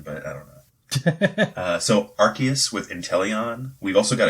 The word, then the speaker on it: Arceus: Is it Arceus? I think it's with a hard C, yeah. Yeah, Arceus. Okay.